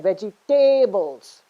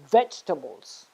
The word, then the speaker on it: vegetables: No, when you say vegetables, you're stressing again, vegetables. You're stressing on the 3rd syllable. But in this case, because it's a noun, you have to stress on the 1st syllable. And that's why it's called vegetables, okay?